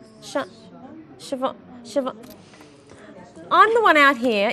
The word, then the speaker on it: Siobhan: Let's get into Sir Bowen's text. 24. Is it Sir Bowen? Siobhan.